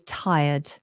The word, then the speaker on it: tired: you might be tired notice we don't pronounce the r tired I often hear tired tired but that's not correct we never say that um so it's always tired I IR ird tired